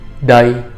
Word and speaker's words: đây: All right, Lin gun dai. Okay, so this is as I said, it's one of the easier words to pronounce. Dai, just same D sound that you have in English.